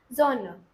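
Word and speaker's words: Sonne: एस जब भी starting में रहेगा तो उसका साउंड जेड वाला रहेगा, जैसे कि जोना, ठीक है, जोना।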